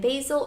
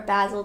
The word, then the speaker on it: basil: So there's primrose, marigold, dill, lavender, chives, and basil or basil, depending on how you say it.